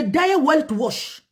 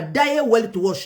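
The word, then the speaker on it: Die Weltwoche: pe site Morabi selon des révélations graves de Daya Weltwash. Daya Weltwash, j'espère que je prononce bien, eza combo moko en allemand.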